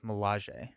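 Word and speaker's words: Milaje: I was like, I learned how to say malage yesterday and on on the trip home because it's mirage but with an L. So, it's Malaj.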